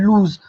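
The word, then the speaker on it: lose: लूज मतलब होता है खोना। हम लोग इसको क्या पढ़ते हैं फ्रेंड, लॉस भी पढ़ते हैं, जो गलत है। जब अगर हम लॉस पढ़ेंगे तो इसका स्पेलिंग हो जाता है फ्रेंड LOSS होता है लॉस का, लेकिन ये क्या लिखा हुआ है, लूज।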